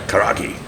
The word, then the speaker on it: karaage: We had the I've got to pronounce it right. Karaage. Is that, uh, is that the right Karaage.